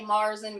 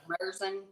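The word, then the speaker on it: Märzen: to me a little bit how people are pronouncing it. So we're gonna have a topic on that. People say Marzen, but it's Merson.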